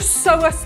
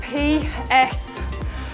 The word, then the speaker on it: psoas: Something called a psoas march. That is spelled P-S-O-A-S, a psoas march.